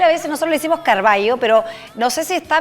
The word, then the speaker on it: Carvalho: Mi apellido se dice Carvalho.